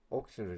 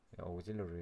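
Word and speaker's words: auxiliary: 오그질러리 레스트는 제가 발음이 안 좋죠. 옥실러리 레스트가 아니라고 합니다. 오그질러리 레스트라고 발음하는 게 맞다고 합니다.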